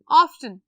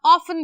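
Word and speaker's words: often: Everyday, first word is everyday, always, every month, ऑफ्टन या ऑफन भी पढ़ते हैं इसको, टी साइलेंट भी होता है, टी के साथ भी पढ़ सकते हैं।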